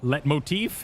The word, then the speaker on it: leitmotif: Leitmotif, isn't that what I learned the other day? Leitmotif. The leitmotif. Don't pronounce the T.